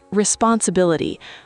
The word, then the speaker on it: responsibility: Let's look at the word responsibility. R E S P O N S I B I L I T Y. The pronunciation is responsibility. The stress is on Bill.